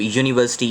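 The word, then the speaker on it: university: example you है मतलब यूनिवर्सिटी यू से स्टार्ट हो रही है अब उसमें क्या है कि वावल लेटर से स्टार्ट हो रहा है ना बट उसमें वो वावल साउंड तो नहीं आ रहा दैट इज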